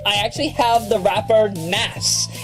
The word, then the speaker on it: Nas: And in a special in-house version of the game, I actually have the rapper Nas. N-A-S or Nas, as a lot of other people pronounce it.